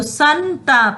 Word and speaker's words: संताप: जब हम बोलते हैं ना तो संताप, न का उच्चारण आता है, संताप।